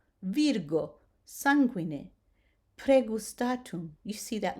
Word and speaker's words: virgo: The hard G as in go, the rule is that